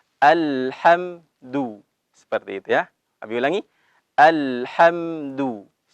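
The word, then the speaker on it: الحمد: ada Halo seperti itu bunyi kita baca alhamdulillah dalam keadaan atau dalam berharokat dhomah harus dimohonkan al-hamdu bagi itu ya Bilangin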